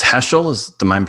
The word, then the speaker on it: Heschel: a couple of stories of i think it's heschel is the mind pronouncing that correctly abraham joshua heschel correct yes and uh i know that you're